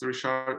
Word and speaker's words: Rishad: is and today we have my guest Richard Ahmed did I pronounce her name correctly yeah perfectly actually yeah